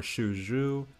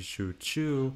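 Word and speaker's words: Xu Chu: Warriors are also misspelled two prominent examples are shuju which would more accurately be Shu Chu why don't they just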